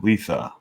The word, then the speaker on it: Lietha: Lietha. And for those of you that don't know how to pronounce my name, I always tell people it's like saying Lisa with a lisp. So it's Lietha.